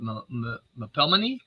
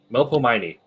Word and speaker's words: Melpomene: My powers are awe and I'm not sure exactly how to say this, but Mapelmany? Yeah. Mapomely? Melpomene.